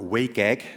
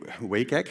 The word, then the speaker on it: WCAG: web content accessibility guidelines wcag or wake egg as the in crowds pronounce pronounce it the way wake egg version one was published